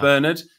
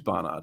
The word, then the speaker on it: Barnard: appreciate that it's not Bernard it's not Bernard it's James Barnard so well done thanks